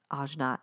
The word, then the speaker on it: ajna: let's see yes yes ajna it's pronounced ojna a j n a